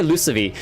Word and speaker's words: Lucavi: Gaug, the Lucavi, usually sees soft before like I's and E's, but because it's an A, it could be Lucavi. But I would say Lucavi because usually if it's a vowel next, it's a soft C.